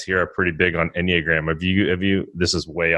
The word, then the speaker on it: Enneagram: Say, how do you pronounce that? Is it Enneagram?